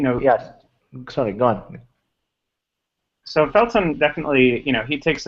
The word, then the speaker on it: Felton: you know I mean feltron is definitely or Felton sorry his website is spelled Tron but he is Felton yeah kind